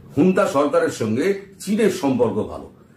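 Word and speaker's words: junta: ও ঝুন্তা বাহিনীকে যেমন করছে, হুন্তা বাহিনীকে লেখা হয় ঝুন্তা, কিন্তু উচ্চারণটা করে হচ্ছে হুন্তা।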